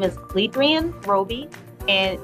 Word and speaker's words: LeAdriane: watching thirteen on your side my name is ledran roby and it's pronounced ledrian it looks likely adrian but it's ledran and it's l-e-a-d-r-i-a-n-e last name is roby r-o-b-y